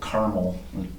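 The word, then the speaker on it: Carmel: was a a city called Caramel spelled like the candy but like you got a mouthful of marbles.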